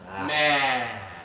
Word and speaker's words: man: Put up 2 fingers like this and touch here. Ah. Yeah, you got to open big, and the sound comes from the back, but the sides of your throat. Ah. Man. Man. One man. Okay.